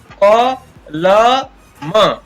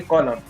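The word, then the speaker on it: column: इसी प्रकार कॉलम, कॉलम। यहाँ पर न का कोई एन का कोई मतलब नहीं है, इसका उच्चारण नहीं होता है, तो इसको पढ़ेंगे कॉलम।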